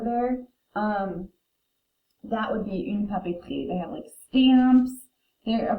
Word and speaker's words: papeterie: Next word is une papeterie. This is a store where people go to get paper and paper supplies. We pronounce this une because it's feminine. Papeterie, like a tree outside.